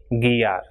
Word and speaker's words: guiar: And GUI is pronounced as gi. So we have examples for this pronunciation, words like guitarra, conseguir, or guiar.